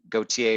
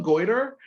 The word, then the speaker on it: Gotye: least sales and spins, by Gotye, or however you pronounce his name. Did I call him Goiter?